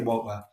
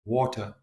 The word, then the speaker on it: water: And she can say woa. And she felt the students trusted her more and liked her more because of it. So in her mind, is that not professional? But the mentor said, no, pronounce the T, water.